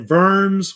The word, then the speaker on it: Worms: Empire they met at vers which is which is in Germany the W is pronounced with a V and at the time